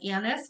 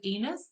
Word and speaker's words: anise: oil it has um anise which i always pronounce is anus so make sure you slow down when you're doing that nobody wants anus oil then we've got um